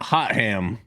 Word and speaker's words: Hotham: I love Max says Mount Hot Ham. Yeah, Hotham. Hotham is pronounced hot ham.